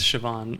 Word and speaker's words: Siobhan: It's pronounced or written Siabahan. Oh, that's Irish? Yeah. I always read that as Can't even Siobhan. guess. Yeah, it's Siobhan. Or like Saoirse Ronan, you know?